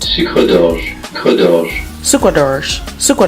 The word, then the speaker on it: Sucre d'Orge: Okay, so it's a French word and it's pronounced Sucre d'Orge.